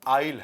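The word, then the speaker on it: aisle: अच्छा, इसका pronunciation आइसल नहीं है, आइल है, आइल, आइल, अडॉर्न।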